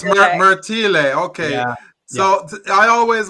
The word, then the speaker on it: Martile: correctly I said merti oh it's merti but you know what it's because my dad's Italian and then he immigrated to Canada it's Marti that's why so it's Marti okay so I always